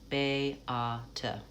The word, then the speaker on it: Beata: European name, Beate, Beate, say it slowly with the syllables delineated, Beata. That way we can hear that has 3 sounds, da, da, da, Beata.